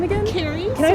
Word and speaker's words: Keri: Carrie. Can I spell Can I spell that? Sure. It's Carrie.